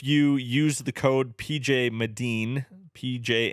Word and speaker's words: Medin: that whenever someone's like what's your name I go medine and just naturally go